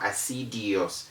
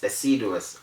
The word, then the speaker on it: assiduous: then we have acidus note that the word doesn't have an eye after the d it's not acidios it's acidose okay to work assiduously means to work hard and that way it's not easy i have actually had somebody say azidious before that is wrong now what i have